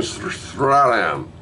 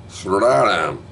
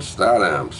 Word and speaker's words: Statham: Jason Statham. Stratham. I can never pronounce his name right. Sorry, Ian. I can't do it. I tried for years. Stratham? Statham.